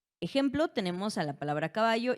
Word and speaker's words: caballo: Yo no pronuncio esta palabra como caballo, ¿verdad? ni caballó, yo digo caballo. Caballo. Y notamos entonces que la sílaba tónica recae en va, ¿vale?